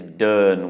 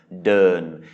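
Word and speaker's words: เดิน: And it's a mid-class consonant and it's a live syllable with a sonorant final. So this is mid-tone pronunciation, Durn.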